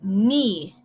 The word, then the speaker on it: knee: Rodilla would be knee. No te confundes, no te preocupes por cómo se escribe esa palabra. La K es muda y la doble E es como si fuera una I en español. Knee.